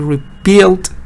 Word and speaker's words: rebuild: Rebuild the wall, stress on the second part.